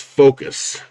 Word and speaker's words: Fokoos: we are going over the focus or i think it's focus is how it's supposed to be pronounced oh i gotta adjust